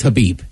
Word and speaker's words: Khabib: It's Habib. I don't think you pronounce the K.